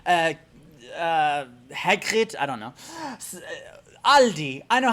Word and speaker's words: Aldi: the s belongs but when you're talking about a singular one one one aldi it's just aldi or with the german pronunciation aldi i hope this helps